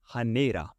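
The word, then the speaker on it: ਹਨੇਰਾ: Basically the the academic word or you can say the formal word is Hanera. Hanera Hanera. But in colloquial way we eliminate the heart sound at the beginning. We just say neither.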